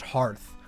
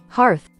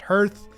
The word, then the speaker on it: Hearth: Now guys, before I start voicing this section, I want to let you know, it's pronounced Hearth. Hearth. I've always thought it was pronounced Hearth.